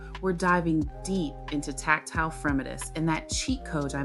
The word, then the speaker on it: fremitus: And one of my favorites is Fremitus, pronunciation, Fremitus.